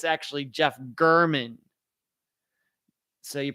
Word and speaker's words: German: it looks like Jeff German it's actually Jeff gurman so you pronounce it g-u-h-r-m-a-n-n even though it looks like German with an N on the end Erman German I talked